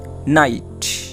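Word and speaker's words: knight: পরেরটা দেখো, এই দেখো কে এন আই জি এইচ টি, নাইট। দেখো এ জায়গায় কে কিন্তু উচ্চারণ হয় না।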